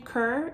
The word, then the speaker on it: Coeur: came to us with the name Kerr it's spelled see it's French at sea oh you are I believe and in French it means heart and and when we